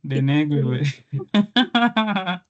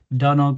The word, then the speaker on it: Donoghue: Some will call it Donog versus Stevenson. Some will call it Donoghue versus Stevenson. Some will call it Denegwe, whichever. So it's Donog versus Stevenson.